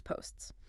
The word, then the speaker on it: posts: A very common learner error is cutting off that final S or maybe the P or both. For instance, saying the teacher always posts the grades or posts the grades. That's grammatically incorrect and it just doesn't sound natural at all. You need that final S on post to indicate a plural noun or a third person singular verb. It's post s.